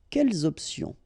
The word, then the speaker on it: quelles options: Option is starting with a vowel, you should make the liaison between the two. Quelles options?